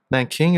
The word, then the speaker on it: Nanjing: the rape of Nan Nanking is it Nanjing? I forget the Depends on how you pronounce it.